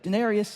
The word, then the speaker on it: Daenerys: their name and I said it correctly said Denarius who's your lab C they were like he